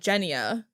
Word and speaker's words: Genya: a g so i always read it as genia but she said jenia when she was saying it to someone will we say gif